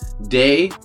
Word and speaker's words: Dei: Day, which is spelled out D EI, who's played by Sydney Park, and Brad, who's played by Greg Wayne.